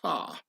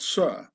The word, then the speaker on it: sir: This is why in posh upper-class British the word sir has to be pronounced sar, and not sir, yes sir, to show one's solid origins.